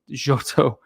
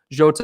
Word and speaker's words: Jota: we got joto and jyoto jota i'm sorry i pronounced that wrong jota and thiago i i